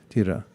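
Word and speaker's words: dhira: do this is called tira spelled d-h-i-r-a-tira you pronounce the h like that try tira tira so um one of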